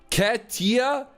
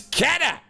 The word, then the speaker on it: Katter: Katier, it's Kata. Say it right.